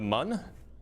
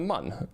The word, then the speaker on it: Mun: Uh yeah, it's it's the Mun. It's not the Moon. I mean, I guess it's technically pronounced the Moon, but um So, you